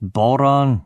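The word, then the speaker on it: bodhrán: It's pronounced boron, you ignorant shite, I said to Bob.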